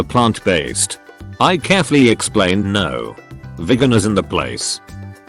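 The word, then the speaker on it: Vigan: In my country, there's a province called Vegan, pronounced same as vegan.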